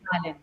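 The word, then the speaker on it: Balen: Uh Balon, I hope I'm pronouncing his name properly. Is it Balin or Balin? Balin.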